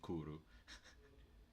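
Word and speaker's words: クール: He has his favorite word is kuro, which is basically cool but Japanese because they can't pronounce the L, so they say kuru.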